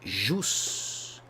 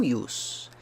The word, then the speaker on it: jus: E jus, não ius.